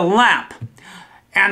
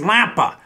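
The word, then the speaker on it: лампа: or office that kind of thing is a lamp and the Russian word for lamp is very similar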